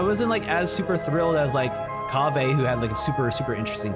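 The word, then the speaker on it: Kaveh: Baiju, I'm not gonna be, well, I mean, Kawe. Kawe is, wait, is it Kave? No, it's Kave.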